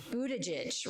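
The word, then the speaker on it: Buttigieg: is the husband of Pete budy and I pronounce it wrong is it Budaj budage Budaj right so many of you remember Pete Budaj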